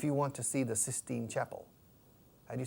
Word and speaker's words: Sistine: you say in English the sixteenth chapel sixteen knows the FE says no Sistine Sistine on sssss Sistine Chapel Sistine and you don't need